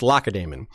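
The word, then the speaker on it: Lacedaemon: Uh it's spelled lace damon as if as if Damon Targaryen was all dectin lace but it's pronounced lacadamon but it's spelled the same way.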